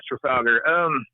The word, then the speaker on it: Trafalgar: Is that how you pronounce it? Yeah, Trafalgar.